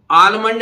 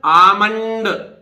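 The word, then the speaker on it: almond: हथेली इसी तरह देखिए आलमंड नहीं है बादाम को अब तक बोलते ना आमंड एल साइलेंट रहेगा क्योंकि एल आ रहा है एम से पहले एम से पहले आया हुआ साइलेंट रहेगा भाई परंतु मतलब मैंने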